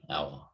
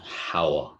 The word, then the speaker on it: hour: there's an h but because the h is silent right an hour right it's an out sound right so we need an and there yeah it's not it's not how right right good point